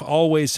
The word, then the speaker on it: Alvvays: haze the they're the band called always this is always spelt with two v's rather than a w by the way and while they're based